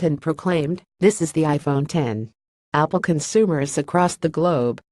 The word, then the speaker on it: iPhone X: to pronounce its name the X refers to the Roman numeral 10 not the letter of the alphabet and is supposed to